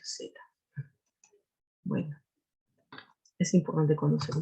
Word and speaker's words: zeta: Antes decíamos teta, ¿no? O tita, ¿no? Y estoy investigando y se pronuncia zeta.